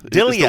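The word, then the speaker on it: Delija: go there between I went to Dia Dillia the way he says it. I I am interested to see how they say it on broadcast cuz I've always thought it was Dia.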